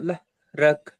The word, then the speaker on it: ظهرك: الذي أنقض ظهرك. சரி போதுங்க. லஹ்ரக் அல்ல, ல வரக்கூடாது. தா லா لا. என்னென்ன உச்சரி வரணும்.